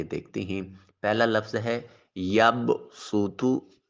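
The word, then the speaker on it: يبصط: ہیں۔ پہلا لفظ ہے یب سوتو۔ یب سوتو صاد کے ساتھ لکھا ہوا ہے اور اس صاد کے اوپر سین لکھا ہوگا۔ ہم نے صاد کی بجائے سین کا تلفظ کرنا ہے۔ صاد اور سین میں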